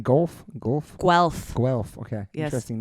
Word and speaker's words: Guelph: How do I pronounce the name? Guelph? Guelph.